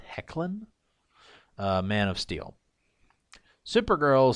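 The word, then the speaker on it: Hoechlin: really like the tyler i think that's supposed to be pronounced hecklin uh man of steel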